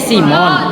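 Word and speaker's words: SIIMON: Bacanya Simon. Cuman I-nya 2.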